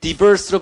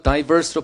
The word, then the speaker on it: diverse: 이건 diverse로 발음하기도 하고 diverse로 발음하기도 합니다.